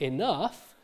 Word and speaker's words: enough: So, for instance, in the word enough, as given on the slide, in the word enough, the GH is pronounced f.